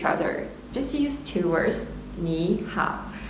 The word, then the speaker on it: 你好: Okay, follow my pronunciation is ni hao.